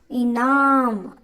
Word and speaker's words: इनाम: இனாம். இதுக்கு ஸ்ட்ரெஸ் கொடுக்கணும். இனாம். இங்கே இந்த லெட்டருக்கு ஸ்ட்ரெஸ் கொடுக்கணும், இந்த வேர்டுக்கு, இந்த லெட்டருக்கு.